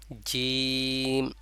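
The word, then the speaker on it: ج: ঠোঁট কখনোই গোল হবে না না হয়ে সেভাবে উচ্চারণ হবে যেমন জিম জিম জিম এখানে ঠোঁট কখনোই গোল হবে না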